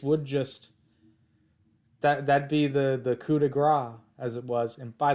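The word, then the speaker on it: coup de grâce: It's fucking French. You don't pronounce the S. It's coup de grace. Stop it. It really annoys me. They're like, a coup de grace.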